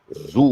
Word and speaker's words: Zoogle: Zoogle, Zugu, spelled like Google, but Zugu, with a Z. Zugu, Zoogle.